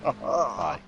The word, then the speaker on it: Thijs: Thigh. As well. Thigh. Thigh. It's thigh. There's no. Forget the S, so it's thigh. It's just thigh.